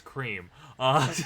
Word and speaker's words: Creme: goodbye my name is cream now nice to meet you f it's creme yeah got it see it's spelled that but Bryce pronounced it as cream yeah I'm also yeah